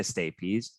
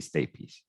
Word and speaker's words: stapes: the incas and the stapes they are gonna so so plus stapes that's gonna equal to the ossicle also goes i know it looks like it's pronounced stape but it's actually stapes for those of you